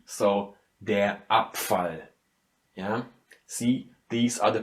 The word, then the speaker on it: Abfall: And so it goes for der Abfall. Yeah? Here, consonant is following the B, so the B loses its softness again and it becomes something like a P. So der Abfall.